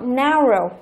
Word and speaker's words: narrow: Chúng ta có tính từ narrow có nghĩa là hẹp. Hẹp, đó, narrow. Tính từ có 2 âm tiết thì thường trọng âm rơi vào âm thứ nhất.